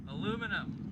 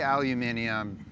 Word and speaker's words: aluminum: The official pronunciation is aluminum. Aluminum. All right. I'll say aluminium just for the few.